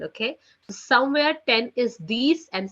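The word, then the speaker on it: dix: Neff nif Ness okay 10 in French is being written down as d i x which is sounds like you know which sounds like these these so it's set with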